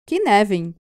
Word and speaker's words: Cynefin: E aí que entra o modelo Cynefin, que se escreve Cynefin, mas que se pronuncia, pasmem, Cynefin.